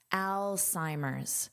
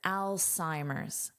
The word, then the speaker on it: Alzheimer's: First, let's talk about the pronunciation of this word, Alzheimer's. So notice this beginning is pronounced like the name Al. Now this is pronounced as an S, Psi. And this H is not heard, Alzheimer's.